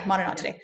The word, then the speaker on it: Monodontidae: The Monodontidae, I think that's how you say it. Am I saying that right? Yeah, Monodontidae.